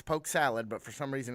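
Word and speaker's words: Poke Sallet: poke Festival Sal Poke Salad specific with a tea for some but it's not it's not said with a t yeah it's pronounced salad it's Poke Salad but for some reason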